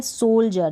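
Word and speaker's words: soldier: अब यहाँ पर लिड हो गया, ये है सोल्जर, जैसे ये स्पेलिंग है, यहाँ पर डी को ज करके पढ़ रहे हैं, IER है डी के बाद में, इसलिए सोल्जर, ज पढ़ रहे हैं डी को।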